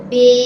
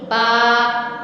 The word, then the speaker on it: ب: اردو تلفظ سے پرہیز کریں، یعنی بے تے ہے خے یا توئے زوئے وغیرہ ہرگز نہ پڑھیں، بلکہ با تا ثا ہا خا طا ظا پڑھیں.